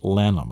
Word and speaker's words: Lannom: So that's L-A-N-N-O-M. That's Lannom.